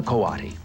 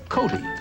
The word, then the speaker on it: coati: a doubt very unusual this is a kawadi you might have heard him called a Cody since his name is spelled c-o-a-t-i he's called other things